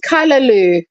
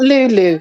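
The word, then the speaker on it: callaloo: It's called Kalaloo, not Lulu.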